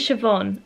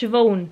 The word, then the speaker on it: Siobhan: This is Siobhan, or if you're from Southend, it's pronounced Siobhan.